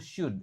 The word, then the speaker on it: should: Nah, di sini ingat should O-nya enggak dibaca. L-nya enggak dibaca yang cara bacanya itu should s y d.